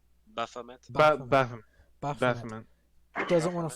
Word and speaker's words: Baphomet: And how do you pronounce his name? It's not Bahamut. It's Baphomet.